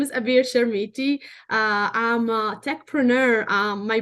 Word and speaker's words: Abir Chermiti: your podcast this amazing opportunity again now you pronounce my name perfectly so my name is avir sharmiti I'm a tech printer my background I started